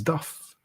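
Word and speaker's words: dubh: Interestingly some people have pronounced it dove or dove. My surname is dove and that is ga for black.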